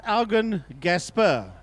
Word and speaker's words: Eugene Gasperi: So it's pronounced Augen Gasper. Augen of Gasper, yeah.